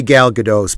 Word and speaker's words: Gal Gadot: that says something that means this is really gal gadot's product excuse me gal gadot that's how she pronounces it gal gadot's project i for you